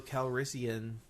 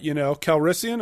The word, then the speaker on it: Calrissian: What did you think about the moment when Lando Calrissian touched the butt of a tauntaun? No. I thought, Calrissian, it almost rhymes with veterinarian, so he's clearly the right guy for the job.